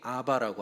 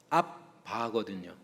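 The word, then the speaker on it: abba: 그리고 여러분 영어로 보시면 a bba 아바라고 아라모로 써 있습니다. 아라모 발음. 그러니까 정확하게는 앞바거든요.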